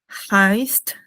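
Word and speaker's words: heißt: E I se pronuncia como una a, ¿no?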